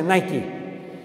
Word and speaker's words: Nike: Él dijo, me llevaron a California y me dijeron, vamos a firmar un contrato con Nike, los zapatos Nike, que se pronuncia Nike.